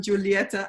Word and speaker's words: Julieta: and and julieta um both their names are pronounced with ah so feel free to call them julieta and geronimo and uh and and